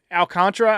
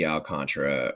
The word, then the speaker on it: Alcantara: I I I don't see Alcantra or honestly it's spelled Al Alcantara. I don't know why it's Alcantra. It's Yeah, but it's pronounced Alcantra.